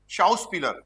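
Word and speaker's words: Schauspieler: अब देखो एक्टर को जर्मन में क्या बोलते हैं, शाउस्पीलर, आर्टिकल देयर शाउस्पीलर, ओके, तो देयर शाउस्पीलर, SCH, शाउस, दो ऐसा आएंगे ना, शाउस, शाउस, शाउस, हाँ सही है, शाउस्पीलर सही है, शाउस्पीलर, ओके।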